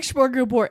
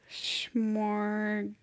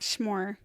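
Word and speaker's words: smörgåsbord: So not schmor. Smorga. So smorgasbord. Smorgasbord. But not gas, but just gas.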